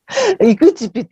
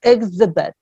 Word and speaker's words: exhibit: 이그지빗 이러시는데 그러지 마세요. 네, 그즈 하지 마시고요. 몸 안 붙이는 소리로 자음 연속으로 오시는 게 좋아요. exhibit. 천천히 하더라도 exhibit 이렇지 이그지빗은 아닙니다.